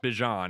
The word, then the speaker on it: Bijan: And Bejian's awesome, by the way. Bean, he's got to pick a name. I'm sorry. like he comes out and he says it's pronounced Bjon and then they show him in the the